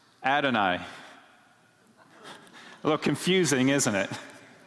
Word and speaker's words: Adonai: bush so in the in the Hebrew scripture this was written y h w h and pronounced Adonai a little confusing isn't